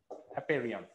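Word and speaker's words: apeiron: Maybe I'm not accurate in the pronunciation. This is how it is pronounced. Aperion. Aperion. He suggested that everything, animate or inanimate, everything sprung out, came forth from this nature.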